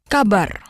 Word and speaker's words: kabar: Kabar. Kabar. Kabar. Kabar. Good. Notice the R is rolled. All R's in Indonesian are rolled.